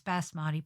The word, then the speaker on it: Basmati: needed to be said Basmati was without the r from then on in I would pronounce Basmati properly but there was a